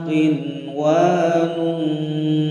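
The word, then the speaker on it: قِنْوَانٌ: Contoh bacanya, wa minan nakhli min tal'iha qinwanun daniyah, qinwanun daniyah, qinwanun daniyah, ya, dibaca dengan jelas.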